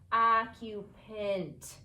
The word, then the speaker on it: occupant: and I know that the A-N-T ending often makes that A have the schwa sound if the word has more than one syllable. So I'm going to read this using the schwa sound. Occupant.